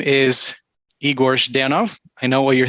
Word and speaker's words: Igor: me my name is igor denov i know what you're thinking uh how do you pronounce that z-h there it says z it's a z sound it's russian um but